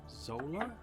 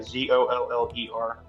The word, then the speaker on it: Zoller: Zola? Zoller, yeah. Is that how you spell that? I don't know. Yeah, Zoller.